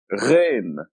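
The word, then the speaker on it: غ: It's like the French R. The closest thing to it is the French R. You hear the French saying merci, means thank you, and this is R that sounds like this letter. It's a gargling sound, and it is represented by GH.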